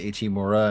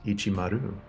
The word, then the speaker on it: Ichimaru: he hands one to ichimura and he hands one to makamura he's like all right guys uh to go because I know you you want to go my name wrong it's ichimaru no it's on the back